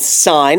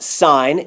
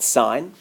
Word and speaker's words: sine: We have one called sine. It's pronounced sine. Your calculator has it S-I-N. So that's not sin. We pronounce it sine.